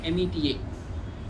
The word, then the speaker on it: Meta: is called as Meta, M-E-T-A, pronounced as Meta, Metaverses and all.